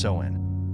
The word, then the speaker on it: Samhain: where the Celts celebrated their festival of Samhain, pronounced Samhain.